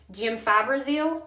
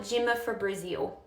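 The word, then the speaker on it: gemfibrozil: And when I first started in pharmacy, this word is pronounced jim fibrazil or jim fibrazil, whatever. I would call it jimma for Brazil.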